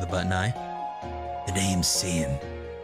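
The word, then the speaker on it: Seam: The name's Sean, pronounced Sean.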